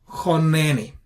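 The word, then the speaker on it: חָנֵּנִי: So since this is a closed syllable and it is an unaccented syllable, we treat it with a short vowel, which is qamats qatan, and therefore we pronounce choneni.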